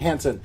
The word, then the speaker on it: Hansen: And today we have with us Briana Hansen. Am I saying it right? Mm-hmm. Hansen.